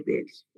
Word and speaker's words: belli: Sí, se escribe belli, pero se lee bellis.